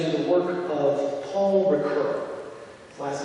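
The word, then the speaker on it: Ricœur: evil led me to the work of Paul recur his last name is spelled r i c o e r even though he's not much of a household name in the english- speaking world rur is well known in France as one of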